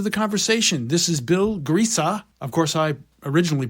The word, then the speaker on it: Griese: never really asked if your last name is pronounced Grace or Greece but I I'm G to go with Greece well you're close there's an uh at the end so it's grea no kidding oh okay great Bill G yeah